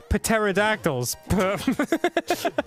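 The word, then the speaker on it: pterodactyls: many p words dude pateradactyls it's not a p word it is the p is silent what was okay my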